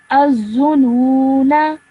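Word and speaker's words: الظنونا: Now over here, what happens is that this alif, blank alif over here, is removed, and you are just left with a noon with a simple fatha on top.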